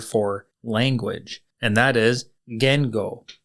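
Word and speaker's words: 言語: language and that is Gango Gango is spelled g n Go and Geno is very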